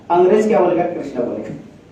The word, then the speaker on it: कृष्ण: जैसे मान लो कृष्ण, कृष्ण, स आधा है, ना तो पूरा है, तो NA लिखना पड़ेगा। तो ये शब्द क्या हुआ? कृष्ण। लेके लिखा क्या है? कृष्णा।